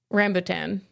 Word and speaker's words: rambutan: that guy okay so he says say it again rambotan rambotan rambotan so it is the Black Betty pronunciation so okay Alex I